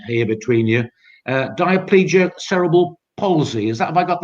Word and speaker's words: diplegic: And you've got, and you'll have to perhaps correct my pronunciation here between you, diplegic cerebral palsy.